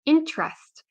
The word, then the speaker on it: interest: don't pronounce everything so we have the word interest it's not interest so many Native many uh English Learners will say interest but natives will say interest interest so the E here